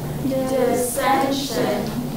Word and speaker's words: dissension: Dissension. There are three syllables and a second syllable goes on.